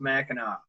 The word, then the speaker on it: Mackinac: also one that sank in the Straits of Mackinac and yes it spelled mechanic but it's pronounced Mackinac right but yet like you know there's the